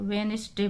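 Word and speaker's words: Wednesday: यहाँ पे जिस लेटर के नीचे ये लाइन खींची हुई अंडरलाइन हो रहा है वो लेटर आपका साइलेंट है, तो वेडनेसडे पढ़ते हैं इसको, डी साइलेंट। आर, यहाँ पे एच साइलेंट।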